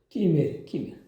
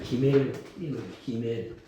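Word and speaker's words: גימל: 끼멜. 강음점을 찍으면 끼멜이라고 읽고, 강음점이 없으면 이중점 강음점 없으면 기멜.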